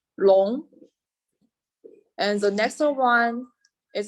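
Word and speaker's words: 龙: one is a jargon and the pronunciation is long and the next one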